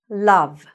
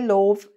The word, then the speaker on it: love: Love. Don't get confused by the O. Don't say love. No. Love.